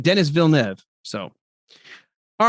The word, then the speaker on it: Villeneuve: I think it's his last name is Villeneuve is how you pronounce it, but I just can't wait for that movie.